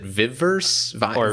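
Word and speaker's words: Viverse: and if you're wondering that's spelled v-i-v-e-r-s-e so is it viv verse yeah that is so it's a bad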